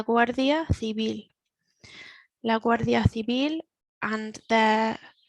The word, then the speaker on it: Guardia Civil: This is maybe one for the pronunciation, the th sound, and then the soft B, la Guardia Civil.